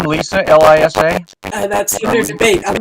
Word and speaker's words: Liza: So she spells it L-I-Z-A, but it's pronounced Lisa.